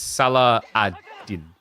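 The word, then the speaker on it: Salah ad-Din: I at least knew how to pronounce it. Oh no, you spelled it wrong though. It's Salah Adin.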